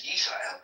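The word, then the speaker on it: ישראל: All of them uniformly, Rayabaya, capture the pronunciation as Yisrael.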